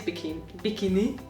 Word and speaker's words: bikini: And bikini is bikini, like with a slightly Hungarian pronunciation, bikini. Bikini. That almost sounds like a French pronunciation. Well, it's very similar. It's very similar to the French bikini.